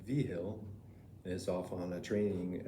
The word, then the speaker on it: Vigil: Vigil, whose name is pronounced Vigil, is off on a training exercise for a couple of weeks.